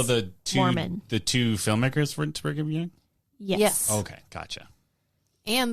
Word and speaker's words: Brigham: Bingham Young. Yeah, Yeah. you said BYU before, right? Yeah. Brigham.